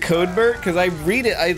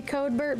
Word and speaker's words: Codebert: cardboard will be using is it code bird like I'm reading it just phonetically and it's covered makes sense it's because we replaced the Y in Cody's name with Bert uh it's supposed to be codebert but you're right it